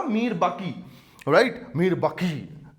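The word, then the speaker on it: میر باقی: था मीर बाकी, राइट, मीर बाकी, ये क्यू आता है, that is Urdu pronunciation, and he built a mosaic near Ayodhya, right, and उसको उसने नाम दे दिया बाबरी मस्जिद।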